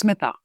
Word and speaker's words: Smita: If you read it, you don't often pronounce it correctly. So, it's smitha.